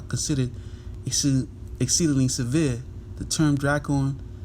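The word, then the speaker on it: δράκων: of the word dragon to the pronunciation Strong's G 1404 dracon dracon so he says that you know the Beast spoke as a dragon you know what I'm saying which goes into dracon which is the the Greek pronunciation so try call me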